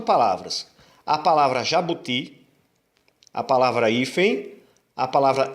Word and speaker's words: jabuti: Jabuti é uma oxítona terminada em i. A sílaba mais forte é a última.